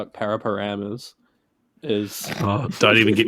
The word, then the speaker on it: Paraparaumu: it's spelled p-a-r-a-p-a-r-a-u-m-u and people pronounce it pram this is just a